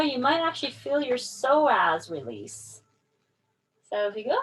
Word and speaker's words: psoas: Spelled with a P, S-O-A-S. Sounds like psoas.